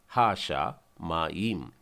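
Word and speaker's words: השמים: और हा का भी अर्थ मैं आपको बताना चाहता हूं, हा मतलब स्पेसिफिक, द, और इसका उच्चारण पहले लिख लेते हैं हम लोग, हा शा मा ईम, हा शा मा ईम।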